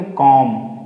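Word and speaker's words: comb: ना बॉम ठीक है यहां पे भी हमें बी को साइलेंट करना है तो इसको छोड़ना इसको प्रोनाउंसिएट नहीं करना तो क्या बोलेंगे कॉम क्या बोलेंगे इसको कॉम इसको बोलेंगे बॉम्ब कॉम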